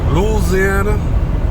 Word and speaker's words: Louisiana: Louisiana, that's how they say it around these parts.